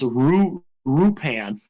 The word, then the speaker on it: Lupin: like Lupin in Japanese is Rupan, basically. That's how they spell it.